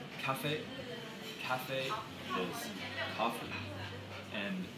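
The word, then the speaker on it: 咖啡: Cafe. Cafe is coffee, and you say it like you're singing it.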